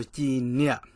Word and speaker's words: Cim Niam: So Cim Niam, Cim Niam. Do you guys hear that? It's a little down tone. So Cim Niam, Cim Niam, straight down.